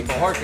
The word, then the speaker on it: Bojorquez: My guest tonight is a pretty epic LA figure, Bojorquez. That's how you pronounce that. That's me, Bojorquez.